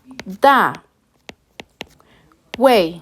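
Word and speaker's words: 大卫: Si se dan cuenta nuevamente, entonces, la pronunciación en pinyin, Da Wei, se parece bastante a la pronunciación que le damos en español, David, ¿verdad?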